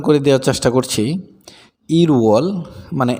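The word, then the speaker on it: 일월: দেখেন আমি একটু উচ্চারণ করে দেওয়ার চেষ্টা করছি। ইরওয়াল মানে 1 মাস অথবা জানুয়ারি, ইওয়াল 2 মাস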